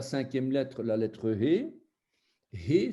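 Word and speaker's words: ה: He, c'est un souffle qu'il faut prononcer, un souffle.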